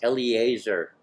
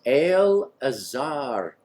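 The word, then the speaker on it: Eleazar: they came before al-azhar everybody says Eliezer no it's al-azhar the Cohen priest and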